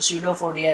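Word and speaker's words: pseudopodia: Structure, जिसे कहते हैं फ्यूजडोफोडिया, जिसे कहते हैं फ्यूजडोफोडिया या तो स्यूडोफोडिया। कोई पी साइलेंट में अगर रखो तो स्यूडोफोडिया ऐसे कहते हैं।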